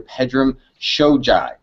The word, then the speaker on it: Pedram Shojai: of ours he's not his name is dr pedram shojai did i get that right pedro you did